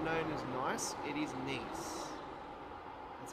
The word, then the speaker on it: Nice: It is not known as Nice, it is Nice. That's how they pronounce it.